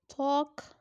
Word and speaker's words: talk: Talk. L is silent here.